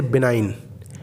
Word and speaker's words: benign: जब कभी भी जी से पहले आई आ जाए तो जी साइलेंट हो जाता है। जैसे बेनाइन, बेनाइन की स्पेलिंग है BENIGN, यहाँ पे जी साइलेंट है।